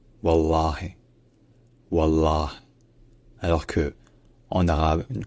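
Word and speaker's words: والله: troisème différence c'est que le h à la fin en arabe classique il est en général prononcé comme un H parce que techniquement il est suivi par la voyelle i mais qui est souvent auise donc en arabe encore une fois ça devient wallah wallah alors que en arabe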